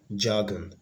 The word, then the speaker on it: jargon: so it is B jargon that's the answer jargon there is distress on the first syllable so the same stress